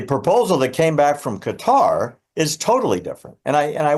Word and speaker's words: Qatar: Qatar funds Hamas, directs Hamas, and the leaders of Hamas that aren't in Gaza are in Qatar or Qatar, depending on how you pronounce it.